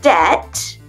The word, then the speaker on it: debt: Allez, on le fait ensemble et on oublie les B. On ne les prononce pas. I doubt your debt with the plumber will climb.